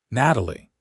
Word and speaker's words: Natalie: "Natalie," Vincent repeated, and the way he said her name with a slight emphasis on the second syllable made it sound almost beautiful.